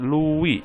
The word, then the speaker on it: Louis: dari rubik ke-16 ya kalian bacanya itu Wih bukan Louis sih tapi luweh luweh ke-16 Lalu kenapa sini